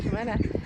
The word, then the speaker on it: Clomantagh: And this is Clomantagh, Clomantagh, it's pronounced Clomantagh, and the castle is called Clomantagh Castle.